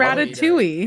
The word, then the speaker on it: ratatouille: do you feel like what do you think ratatouille that's right you can pronounce it with all of its letters or